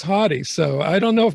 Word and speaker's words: Hauty: on pronouncing that correctly most people say but it is hottie so i don't know